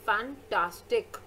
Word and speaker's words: fantastic: For example, when you say the word fantastic, the primary stress on the middle syllable tas, okay?